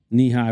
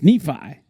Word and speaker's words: Nephi: Thank God I have access to these files because he just mispronounced my name. You called me short. Knee-high. What the fuck does that mean? Knee-high. Short. It's Nephi. But that's I'm sorry.